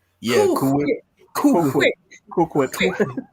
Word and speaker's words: Cool Whip: Cool Whip. You pronounce the H.